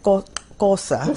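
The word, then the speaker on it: Xhosa: mistaken and um Zulu and kosa that's how you say it yes is our the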